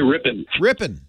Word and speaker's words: Ripon: Chris in Ripon, is it Ripon, Wisconsin? Is that how you say it? Yeah, we say Ripon.